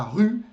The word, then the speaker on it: rue: É por isso que a rua, la rue, leva um E, porém é mudo.